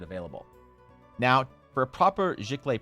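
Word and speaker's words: giclée: now for a proper ziklay print g-i-c-l-e-e which if you're French is poorly pronounced as jikli or jiklae um that's 125 per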